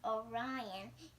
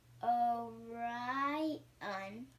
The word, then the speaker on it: Orion: is called the hunter the hunters name is Orion you say it like this oh right on she can be seen